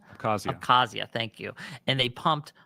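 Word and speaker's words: Abkhazia: They put and they took an interine conflict that was in South OSHA and um I can't pronounce Oh, abasia. Accazia.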